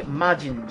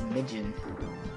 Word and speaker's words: Mijin: But unlike the Majin Jutsu in Shinobi, or is it Mijin? I think it was Mijin. That's how you say it.